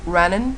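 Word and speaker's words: Renens: Apparently it's called Renault, but I just call it Rennen, so that I don't get into that French thing.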